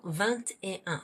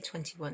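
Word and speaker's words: vingt et un: And you pronounce the T in 20. 20 is like 20 because it's followed by E, which means and. 20 and 1.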